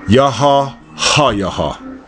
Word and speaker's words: YAH HA: This is how it's pronounced. YAH, just listen to this. YAH HA.